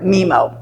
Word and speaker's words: MiMo: is it is called mimo memo I'm not even sure how we should pronounce it I've heard memo m-i-m-o mid-century modern or Miami